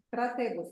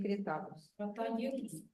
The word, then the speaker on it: Crataegus: Кратегус, короче, не критагус. Кратегус. Ну так читается, Кратегус. Пишется так, Да, Кратаегус пишется. Читается Кратегус. CRATAEGUS.